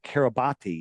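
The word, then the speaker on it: Kiribati: wide and it's registered to the country of Kabati. Have you ever heard of Kabati? It's pronounced Kabat but it's pron it's spelled Kabati.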